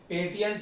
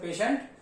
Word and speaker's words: patient: सो द पेशेंट, PATIENT, पेशेंट की spelling है, बार बार पेटिएंट लिखा जाता है लेकिन इसे पेशेंट पढ़ते हैं।